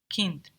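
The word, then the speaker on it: Kind: like a t zint how was the word child Kint Kint again k i n d but we hear a t Kint childhood is Kint height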